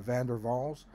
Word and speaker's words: van der Waals: And the fourth bond is a van der Waals bond. Why do we pronounce that van der Waals? Because it's in Dutch and the W is pronounced V.